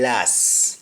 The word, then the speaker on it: last: of last you say last you don't pronounce the t just like past you simply say last and this is because